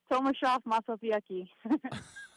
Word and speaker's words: Tomaszów Mazowiecki: Tomaszów Mazowiecki.